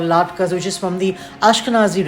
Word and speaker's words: latkes: And so most dishes that are made during Hanukkah, such as sufganiyot or latkes, are deep fried, and it's pronounced Latkes, Latkes. So it's latka for singular, latkes for plural.